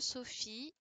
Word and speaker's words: Sophie: Alors, Ilyes, oui, le PH de Sophie. Alors, Azizi, donc effectivement, ça fait le son F, mais ça s'écrit PH.